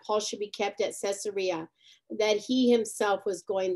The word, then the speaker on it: Caesarea: from caesarea how do you say it again caesarea yeah to jerusalem then the high priest and